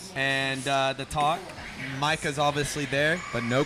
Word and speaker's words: Micah: He can't even pronounce Michael's Micah's name. Micah Par Michael Parsons. It's Micah Parsons.